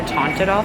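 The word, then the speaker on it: Teint Idole: I'm going to go in with the Tint Idol foundation.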